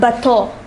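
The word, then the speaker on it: bateau: animo it means animals the next word is bato bato means both in the singular form this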